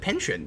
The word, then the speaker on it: penchant: I mean, I always pronounce it penchant. Both of those are good pronunciations, though.